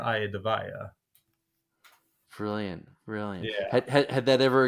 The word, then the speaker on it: Iadevaia: them uh just listen remember the Rocky song IE of the tiger nice yeah so AA the tiger AA the vaa brilliant brilliant had that